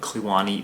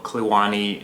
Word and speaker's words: Kluane: uh definitely check out clani mountaineering I'll link it down in the description cuz the spelling and the pronunciation doesn't really line up to me anyways also clani named after the national